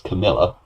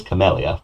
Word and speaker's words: Camellia: but Camellia of course who I did mispronounce most of the video as Camilla it is Camellia but um well it's